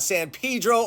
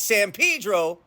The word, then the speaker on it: San Pedro: wanted to talk about San Pedro or is it San Pedro and Los fiz or is it L's fellies let's get into it